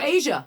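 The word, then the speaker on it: A'ja: And so cut to the celeb game, and I think it's I always mispronounce her name. Ajay Wilson, right? Oh, Asia Wilson from the Vegas team.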